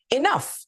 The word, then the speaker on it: enough: Enough follows a similar pattern.